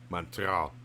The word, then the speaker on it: Montreal: Montreal. Montreal. If you want to say it right. Yeah, T silent.